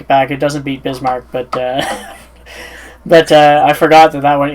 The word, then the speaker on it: Bismarck: I hope I don't pronounce it bad. It's Bismarck, right? Oh, okay, yeah. It's Bismarck.